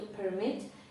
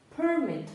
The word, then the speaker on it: permit: дозволяти якщо дозволяти to Permit якщо дозвіл Permit вже наголос міняється і трішки по-іншому вимовляється Ось тут в цьому місці Permit Permit One More ще одне